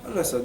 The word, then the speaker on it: al-Assad: So let's go to the Al-Assad dynasty. Mm-hmm. Am I pronouncing it right? Al-Assad, yeah.